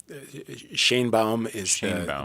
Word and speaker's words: Sheinbaum: Are you going to cover as well Claudia Sheinbaum? Is that how you say her name? That's how we say it in the U.S. Sheinbaum would be the Mexican pronunciation.